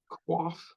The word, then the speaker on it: coif: coiff of hair yeah quaff quaff I guess it's pronounced not coiff I'm American not French